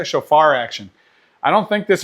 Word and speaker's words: Shofar: Is it Shofar? Is that how you say it? Shofar action.